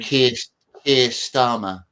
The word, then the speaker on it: Keir Starmer: So, I mean, Keir Starmer, his name is. Yeah, the guy whose name rhymes with Pierre Harmer.